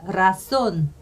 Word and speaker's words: razón: 좀 세게 발음을 떨어주지만, 그렇지 않은 경우 제일 앞에 오는 단어도 조금 세게 발음을 해주더라고요. 그래서 razón, 그 다음에 cerrado, 이거는